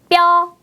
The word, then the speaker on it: 뼈: 힘을 많이 주고 발음했어요. 뼈.